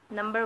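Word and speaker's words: know: से जाएंगे थे कंटेंट्स नंबर वन चक्र आपको नजर आ रहा होगा नो योर कंप्यूटर ठीक है है तो नो योर कंप्यूटर इसमें की जो है वह साइलेंट है 9 मतलब जानना योर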